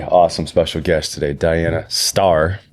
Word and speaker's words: Stoehr: special guest today Diana star even though it looks like store you'll see it in the the description it's pronounced star and you are seriously